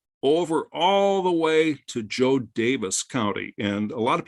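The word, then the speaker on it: Jo Daviess: all the way to Joe Davis County. And a lot of people think it's pronounced Joe Davies. It's actually Joe Davis, like D-A-V-I-S.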